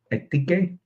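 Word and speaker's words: ἠθική: Tell us how to pronounce it, please, Elena. Ethike.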